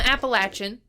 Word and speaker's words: Appalachian: of mountains in the I'm Appalachian get it right that's not how you pronounce it start with me and